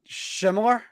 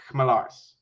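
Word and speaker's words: Jaroslav Chmelař: So, try to say Melars. Yeah, and then try to put the CH of Hedel in front of it.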